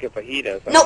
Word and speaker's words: fajita: A Vegeta.